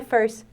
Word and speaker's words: first: Então, você pode falar, I remember, when I first, sem pronunciar o T do first.